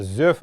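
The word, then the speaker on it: зөв: землю бы правильное слово правильно его произносить не з.в. азеф именно зив это норма буру это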